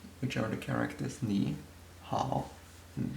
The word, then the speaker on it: 好: Ni is pronounced in the third tone, hao the same, and ma has the fifth tone.